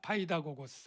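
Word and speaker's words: παιδαγωγός: 발음이 잘 안 되는데 한번 따라해 볼까요? 파이다고스.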